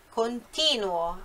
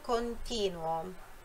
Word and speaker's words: continuo: Continuo, io continuo. Verbo continuare, io continuo. Olha a sílaba forte, a sílaba tônica é no ti, io continuo. Tá? Não é, não será nunca io continuo.